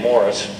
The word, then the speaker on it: Maurice: Maurice Strong, by the way, I think he pronounces his name Morris. I've called him Maurice for years, but Morris Strong has been well documented in the presentations you've already seen today.